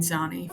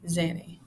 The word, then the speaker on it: Zanni: I went back during this take, and I realized that Zanny is how you pronounce it, or Zan. You can say it either way, but I end up pronouncing it both Zanny and Zani for the rest of this video.